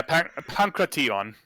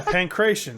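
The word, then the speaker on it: pankration: i was yeah yeah pancreation so everyone pronounced it wrong yeah pancration i got it right of course that actually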